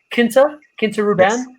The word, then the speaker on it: Quinta Ruban: At Quinta Ruban seems to be Quinta Ruban. Is that right? Quinta. So it's like a Portuguese word. So in France you have a chateau or a clos, and that's where you make wine.